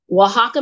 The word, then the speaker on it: Oaxaca: I just learned how to say it right. Oaxaca, Mexico.